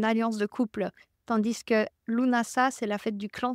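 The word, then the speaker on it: Lughnasadh: imbolk et Lunas LNAs vous allez m'entendre le prononcer plein de façons différentes lunasa c'est la version juste et lunasa c'est des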